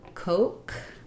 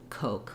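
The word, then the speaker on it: Koch: syllable stress and then this name coke looks kind of weird kind of strange spelling it's the o vowel the o diphthong and the both the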